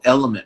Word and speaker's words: LMNT: there there's a product called element for example it's spelled lmnt that has potassium magnesium